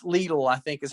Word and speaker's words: Lidl: It's called, I always mispronounce it. It's Lidl, I think is how it's pronounced.